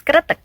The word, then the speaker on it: kretek: So for the traditional therapy, the pronunciation is kretek.